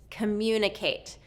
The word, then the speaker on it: communicate: Communicate. So this is 2nd syllable stress. It also has an invisible Y sound.